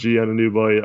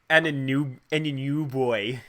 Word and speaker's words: Anunoby: The reason is that Lowry, Ibaka, and OG Anunoby are not playing tonight. You always say Anunoby. Yeah. Anunoby. I gotta help you with your pronunciations.